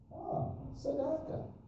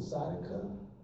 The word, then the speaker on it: tzedakah: the Jewish community said, tzedakah. I said, we call it tzedakah. It's just a matter of where you put the emphasis on the syllable.